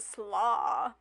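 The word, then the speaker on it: Sluagh: then this one is called the slaw which sounds cool coleslaw fairy coleslaw but it's spelled like s-l-u-a-h-a-g-h so it's not like coleslaw but different so according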